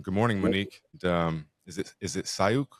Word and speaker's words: Sauyaq: Is it Soyuk? Sauyaq.